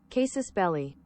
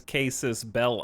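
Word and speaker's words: casus belli: only ever read it it's not belly I'm willing to like hold on here's Google cases belly Google says cases cases belly but also says belly as the American pronunciation but if you look on you glitch which tells you how to speak English that says casus Bell I I wonder if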